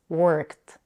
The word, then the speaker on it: worked: suffix e d e for example the word work becomes worked make sure not to add a vowel between the K and the T it's not working but